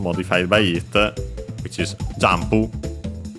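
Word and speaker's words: ジャンプ: Then we have the noun modified by it, which is jampu. As a reminder, again, the n is actually pronounced as m because there's the following pu, and so p, a bilabial consonant.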